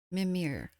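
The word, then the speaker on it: Mímir: Mimir. Okay, that's the English pronunciation of it.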